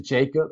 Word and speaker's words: Jacob: 자, Isaac and to Jacob as well. 자, 여기서 발음 한번 잘 해볼까요?